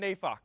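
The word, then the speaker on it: Neyfakh: we're doing now leon nafak that's how you say his name he's the host of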